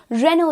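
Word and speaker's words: Renault: starting on with the first, यहाँ पर हम लोग काफ़ी बार इसे रेनॉल्ट बोलते हैं, लेकिन एक्चुअली में इस कार ब्रांड की प्रोनाउंसिएशन है रेनो।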